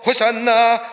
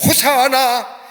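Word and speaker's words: הושיעה נא: 우리들이 예수님의 길을 따라서 호산나 호산나라고 외칩니다 호산나라만 우리 눈으로 변함없는 만세 만세라고 하는 의미가 담겨져 있습니다 히브리 원문대로 발음하자면 호사 하나 우리를 구원하소서 아니 지금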